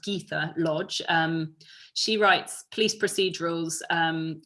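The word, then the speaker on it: Gytha Lodge: her the other day and she's actually it's pronounced geetha lodge she writes police procedurals um she's written three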